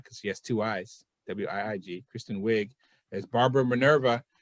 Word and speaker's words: Wiig: It also stars Kristen Wiig, if I'm pronouncing her name right, because she has two I's, W-I-I-G, Kristen Wiig, as Barbara Minerva, and Pedro Pascal.